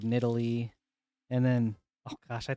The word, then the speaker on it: Nidalee: Like Nidali instead of Nidalee.